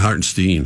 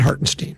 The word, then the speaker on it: Hartenstein: I think that's where you have to say his name not hartstein hartstein I I said hartenstein yeah he was uh